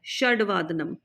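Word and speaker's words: षड्वादनम्: षड, षडवादनम, नॉट षडवादनम, षड, ड पूरा नहीं है, आधा है, षडवादनम।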